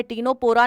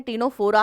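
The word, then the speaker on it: Ctenophora: phylum कर दिया है टीनो पोरा नहीं है टीनो फोरा है मैं लिख देती हूं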